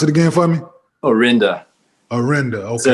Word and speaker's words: Orinda: But you were born in Berkeley and pronounce it again for me? Orinda.